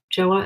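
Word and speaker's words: Jouer: Joa is how you say it.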